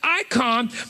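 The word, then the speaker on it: εἰκών: icon it's spelt in greek e-i-k-o-n the e-is pronounced i icon which is a statue of another person a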